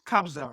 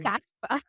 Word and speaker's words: Kabza: sounds like so what what was correct pronounce it's kabza right yes kabza but a lot of people like from Nigeria I've heard them call him Casper I just love him